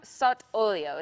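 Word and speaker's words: sott'olio: So tuna sot olio, did I say it properly?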